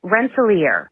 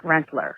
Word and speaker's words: Rensselaer: It is Oneonta, not, I think you said Oneonta, and it's Rensselaer, not Rensselaer. But also, I graduated from University at Albany a year before Suzanne went missing.